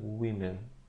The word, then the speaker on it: women: Если женщины во множественном числе, именно читается women.